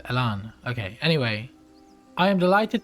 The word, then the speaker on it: Elan: Oh, actually, it's Elan. So it's but it's the you have to pronounce it Elan.